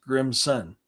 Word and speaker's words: Grimson: And so when you you just time together to Grimson, but how you pronounce it is Grim's son.